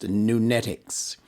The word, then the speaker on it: Nunetics: n e t i c s and is pronounced nunetics what is nunetix that word was coined based